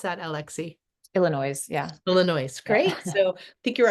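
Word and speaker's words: Illinoise: co-production of is it Illinois how do you pronounce that Alexi Illinois yeah Illinois great so I think you're our first Tony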